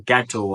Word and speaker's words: Godot: And he wrote this one play called Waiting for Godot or Gatto, however you want to pronounce it. But I'll put it on the screen. Waiting for Godot or Godot, whatever.